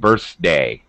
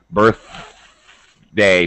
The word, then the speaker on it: birthday: which is not okay the speaker mispronounced birthday he said birthday th again these little things can can cause you points like th birth day stick your tongue out people birthday um he missed an